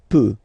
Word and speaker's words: peut: Then il, elle peut. So you will put T at the end, you don't pronounce it. Il peut, elle peut.